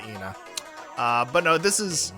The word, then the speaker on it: Ena: This is Ena Dream Barbecue or rather Anna Dream Barbecue. Uh a very Okay, so there they pronounce it Ena.